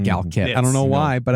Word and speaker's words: GALCIT: Gal is C. It's a hard C. I know, but Gal kit is a soft C. Gal Yeah, cuz Gal sit sounds like you're patting